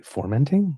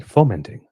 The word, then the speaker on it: fermenting: I'm going formenting. I was like, you mean fermenting? No. No. Fermenting. And then like I showed him like no fermenting. I said it's like sweetie. It's like when are you going to words are my life trust me it's fermenting.